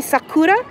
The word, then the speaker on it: sakura: Tell them how to say sakura.